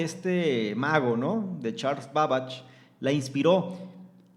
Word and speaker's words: Babbage: Se escribe Babbage, es como Babbage, ¿sí?